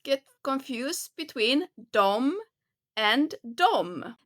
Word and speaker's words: dem: And here again, you see the spelling is D E M. But we don't pronounce it pronounce it dem. So try to not get confused between and dom. They are spelled differently but the pronunciation is the same.